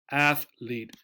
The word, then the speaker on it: athlete: spelling at AET athet two syllables right two vowel sounds here the a here and this e again another silent letter the E on the end athlet sometimes people will make